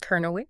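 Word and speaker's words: Kernewek: Kernawick, is that how you say it? Kernawick, yeah.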